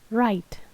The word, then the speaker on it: write: Cara kita mempronounce-nya yaitu menghilangkan bunyi E di akhir kata dan tidak membacakan huruf bunyi W atau W di awal kata. Dan kita baca huruf I ini seperti bunyi I gitu. I.